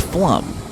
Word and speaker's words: Pflumm: Also took me a little while to figure out that PFLUMM spells flum. You know, PF, P is silent, like Pfeiffer, Michelle Pfeiffer, Mackay Pfeiffer.